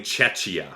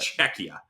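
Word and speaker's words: Czechia: it was so bad I was saying chechia which is I think that's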